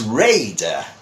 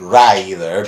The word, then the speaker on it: Raider: and by the way I think word is Raider not Reilly but Raider it's Tomb Raider that is the name